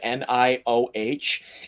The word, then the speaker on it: Nioh: I'm realizing it more every time it's said, but the correct pronunciation of NIOH is exactly the same as NEO, and it's very confusing.